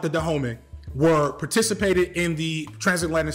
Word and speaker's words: Dahomey: uh nation in Africa I believe this is pronounced dahome um that was in